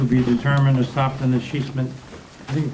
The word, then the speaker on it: escheatment: Item A, consider resolution 218 to be determined to stop the escheatment, I think you pronounced that, Oh, yeah, that's quite a word.